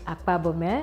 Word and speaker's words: Akpo: woman behind the brand Mary akab I just hope I pronounced your name correctly you did well okay I'm sure a